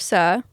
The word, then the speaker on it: Sir: All seriousness, this beautiful human, she's the founder of Sir Ventures and the world-class Sir. Is that how we pronounce it, Sir? Yeah. Yeah. Okay, great. Literally, sir, yes, sir.